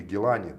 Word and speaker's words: Гилани: И центр его находится в Багдаде, где находится, значит, мазар, могила Гилани. Или Гилани. Скорее всего, на последнем Да, слоге Гилани.